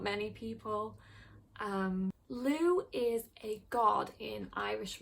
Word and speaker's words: Lugh: Apparently it has a slightly different pronunciation in like older Irish Gaelic, but in modern Irish it's pronounced Lugh.